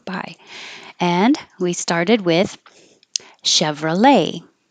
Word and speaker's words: Chevrolet: and we started with Chevrolet it looks like there's a t but we don't say the T Chevrolet and if you use